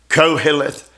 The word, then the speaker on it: Koheleth: I want to pronounce it correctly. Koheleth. Koheleth.